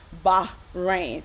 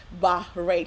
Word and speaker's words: Bahrain: And the name, how to pronounce Bahrain, Bahrain. So that's what I have learned also for myself, is Bahrain. You have to make sure the H is heard. So Bahrain, okay?